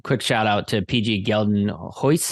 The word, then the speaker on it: Geldenhuys: And quick shout out to PG Geldenhuys, I think is how you say his last name. Geldenhuys. Geldenhuys. There we go. Geldenhuys.